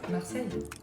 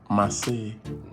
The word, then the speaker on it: Marseille: How is it pronounced? Marseille. Marseille.